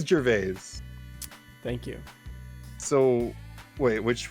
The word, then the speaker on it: Gervais: his last name yeah uh how do you pronounce his name oh there's a clip perfect he says gervais thank you so wait which one did i